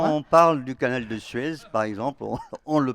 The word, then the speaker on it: Suez: on parle du canal de Suez, par exemple, on le prononce.